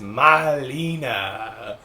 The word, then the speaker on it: malina: got us that well Molina is raspberry in Serbia also but is pronounced Malina not a cool it's